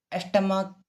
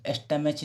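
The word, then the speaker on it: stomach: इसे स्टमेच नहीं पढ़ना है। आपको देखने में लगा च जैसे उच्चारण होता है। पर ऐसे नहीं माय स्टमक।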